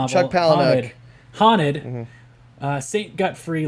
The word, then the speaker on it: Palahniuk: right casey for the win in the chuck paluna i can't say his name chuck palahniuk haunted uh saint got free lost what part